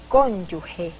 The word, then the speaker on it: cónyuge: redundante es cónyuge o cónyuge lo segundo y pronunciado cónyuge con ese sonido similar al de la G en general género gira etcétera muy bien pero la mayor